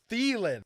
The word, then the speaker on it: Thielen: Thailand to go off stop calling him Thailand Thailand thielen his name name is Adam thielen thielen remember this silent I will slit your throat